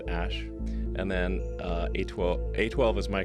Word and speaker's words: Æ: The A-E is like pronounced ash.